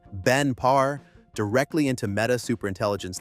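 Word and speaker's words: Ben Parr: Meta acquired Moltbook, bringing Matt Schlick and his co-founder Benpar for pronunciation Benpar directly into Meta Super Intelligence Labs, the AI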